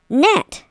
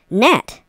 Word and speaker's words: gnat: Gnat. G-N-A-T. Gnat. Gnat. Gnat. It looks like gnat, but it's not really gnat. It's gnat, because the G is silent, and I come around,